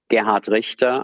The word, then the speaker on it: Gerhard Richter: So Gerhard Richter, I'm pronouncing this deliberately in German and not in my German-American accent.